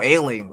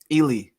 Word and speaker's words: Ealy: like who's Michael Allen I said ailing oh ailing okay yeah how do you so how do you pronounce it Ely Ely yeah yeah Michael Ealy but yeah yeah